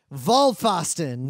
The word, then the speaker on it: Vollpfosten: other game we played vol fosston vault yeah sorry about the German pronunciation it's volvió LLP fos t en it's all one word